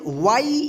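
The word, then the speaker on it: way: पढ़ेंगे वे ठीक है यानी जब किसी वर्ड में ए के बाद वाई या आई रहे तब उस ए का ए उच्चारण होगा ठीक है जैसे यहां पे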